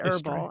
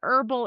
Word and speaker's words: herbal: And so what happened is that inspired a lot of the h's to be reinserted where they were sort of historically had been there at one time way way way way ago but had been dropped but then to sound fancy people put them back in and herbal is one of those words.